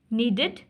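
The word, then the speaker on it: needed: आईडी अच्छा नीडेड wanted नीडेड wanted अब देखें ये पास्ट फॉर्म ना नीड की नीडेड और वांट की वांटेड लेकिन इसमें देखि आईडी इड इड वाली साउंड आ रही है नेक्स्ट है एग्जांपल ऑफ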